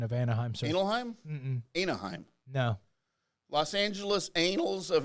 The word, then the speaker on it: Anaheim: in that wait are they here remember another analheim right yeah because it's so late yeah that's right I don't think that's the correct pronunciation of Anaheim Anaheim no Los Angeles anals of Angel Anaheim California